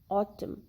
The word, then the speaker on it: autumn: now the silent n the letter n is not pronounced or is silent when it is in the end of the word and letter m precedes it like in column damn solemn autumn in all these words letter n is not heard it is silent letter p letter p